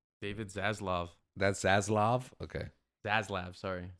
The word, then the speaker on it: Zaslav: is his name David zaslav that's zaslav okay zaslav sorry zaslav but I think it's pronounced zaz I sounds so evil but it's zaz laav yeah allegedly allegedly sounds